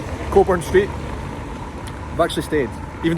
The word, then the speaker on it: Cockburn: yeah and rude but it's a silent c k it's coold bur that's how we pronounce it cobor not cockburn cobor Street I've actually stayed